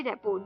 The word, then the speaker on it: rapport: इसमें रेपो में जो लास्ट के R और T है ये साइलेंट आते हैं, तो RAPPORT, रेपो।